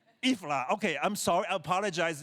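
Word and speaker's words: Jihlava: The name of the city without butchering the pronunciation. Ji.hlava. So again. Ji.hlava. Ji.hlava.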